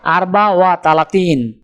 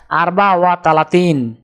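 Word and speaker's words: أربعة وثلاثون: আরবি ক্রমিক সংখ্যা 34 দেখতে এরকম, উচ্চারণ হবে আরবা ওয়া তালাতিন। তাহলে 34 ক্রমিক সংখ্যাটির আরবি উচ্চারণ হবে আরবা ওয়া তালাতিন।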